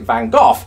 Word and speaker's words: van Gogh: and I found that the reason we actually pronounce it van Gogh is probably because it looks somewhat like the word cough or something, maybe.